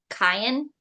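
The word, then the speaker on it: Cyan: a an oh um that's like the color cayen Cen okay that's what I was going to say but I'm like I don't know cayen geta it says it's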